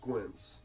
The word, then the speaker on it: Skwynts: your name yeah so my nickname is pronounced quince like your eyes are real squinted like you smoke too much weed or something pin it's